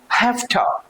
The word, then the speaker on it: have to: का, that's gonna be HAFTA. That's gonna be have to.